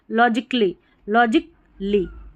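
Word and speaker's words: logically: है ना, यहाँ पर जो A रहता है ना इसका उच्चारण नहीं होता, लॉजिक फिर ली, A जो है ना गायब से हो जाता है, ठीक है।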